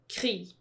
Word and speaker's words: krig: War in Danish is krig. Yes. And it's one of those where the G is silent.